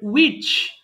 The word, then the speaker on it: which: করতে হবে who এরপরে which এটাতেও H এর উচ্চারণ দরকার নেই which এরপরে whose how